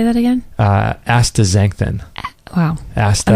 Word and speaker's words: astaxanthin: Astaxanthin.